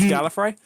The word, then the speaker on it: Gallifrey: It's pronounced Gallifrey.